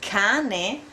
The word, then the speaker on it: cane: You pronounce cane because this is a hard vowel.